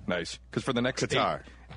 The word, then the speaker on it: Qatar: We need to just cut him saying the name Qatar. Hey, Nooner? Already done. Nice. Because for the next Qatar. Qatar. It's all where you put the emphasis on the syllables.